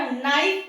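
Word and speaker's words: knife: और नाइफ में भी एन के पहले के है, इसलिए वो साइलेंट माना जाएगा।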